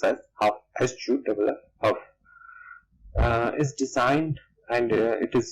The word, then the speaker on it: Hough: It is pronounced as Hough, Hough.